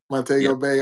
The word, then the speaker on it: Montego Bay: Montego Bay.